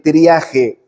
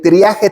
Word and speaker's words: triaje: libro que se llama El trije, bueno, no se dice si escoge tus batallas, pero es el triaje teológico, ¿no?